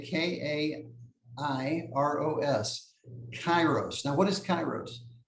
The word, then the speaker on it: kairos: word with a different meaning and that is kairos spelled with a k k a i r o s kairos now what is kairos cairo speaks to